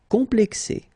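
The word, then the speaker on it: complexée: Complexé, complexé. So you just add this final E, but then for the feminine form, it's phonetically it's the same as the masculine form.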